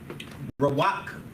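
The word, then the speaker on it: רוח: smells your Lily smells the Hebrew word for smell is Rak Rak is how you say smell you might have heard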